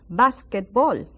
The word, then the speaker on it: básquetbol: And el, muy bien, básquetbol. Básquetbol. Muy bien. Remember that accent, básquetbol.